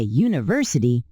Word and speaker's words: university: We say a university because the U sounds like you.